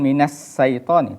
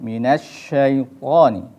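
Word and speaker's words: مِنَ الشَّيْطَانِ: rongga mulut di situ jadi jangan minus saiton tapi minas syaiton dan perlu diperhatikan ketika pengucapan kok itu harus lebih tebal ya karena kalau termasuk huruf yang dibaca tebal baik kemudian setelah itu jangan lupa ketika pengucapan ro juga di situ ada rok tebal karena berharakat fathah jadi harus dibaca tebal Apa yang membedakan antara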